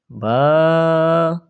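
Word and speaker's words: ب: আবার প্রথম থেকে আলিফ, আলিফ, বা, বা, 2 ঠোঁট মিলাইবেন, ছেড়ে দিবেন, বা হয়ে যাবে।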